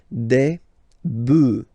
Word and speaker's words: bœufs: this S, but then pronunciation changes quite much because you get des bœufs, all right, un bœuf, des bœufs, all right.